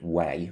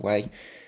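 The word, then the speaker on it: wei: and cents you have ether and way or we i think it's pronounced way uh you know bitcoin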